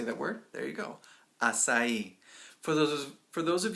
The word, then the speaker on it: Açaí: States you will encounter people who say that word incorrectly so when you get in there and you're talking and you hear somebody say I really like a chi now you know what